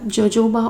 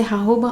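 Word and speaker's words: jojoba: Sunflower oil है, फिर जोजोबा ऑयल। अब जोजोबा ऑयल यूजुअली इंडिया में कहते हैं, वैसे जे साइलेंट है तो उसे हाहोबा ऑयल कहा जाता है।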